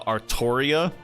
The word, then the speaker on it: Altria: I mean hey the the Japanese just straight up said it's pronounced Altria and uh essentially all